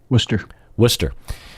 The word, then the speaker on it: Worcester: How do you say that? Worcester.